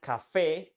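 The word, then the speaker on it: café: accent at the end and Cafe has the accent at the end Cafe means coffee by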